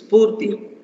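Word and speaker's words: Sphurti: Actually, how it is pronounced is Spurti.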